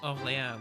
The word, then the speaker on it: Orléans: There's no E, but it's House Orléans, which is still one of the noble families in France. They just removed the E, but it's clear.